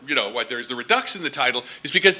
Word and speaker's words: redux: So that's kind of-- and that was the mistake of the reason why there's the redux in the title. How do-- did you pronounce it redux or redo?